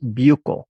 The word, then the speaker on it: buccal: will hear about both buccal and sublingual absorption which take place in the mouth and by the way buccal means the inside of the cheek and is sometimes pronounced bucyl and sublingual means under